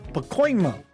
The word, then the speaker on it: Pacoima: Brady Riggs from Pacoima, California. I get that right?